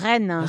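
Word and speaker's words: Rennes: saying it's the r same with Rena Rena Ren yeah the city Ren yeah if you can do a French R you can do Ren it's easy this one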